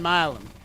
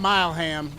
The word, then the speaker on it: Milam: the pronunciation for Brian Milam. I was calling him Mileham, and I figured that probably wasn't right, but I don't know him, so took a shot.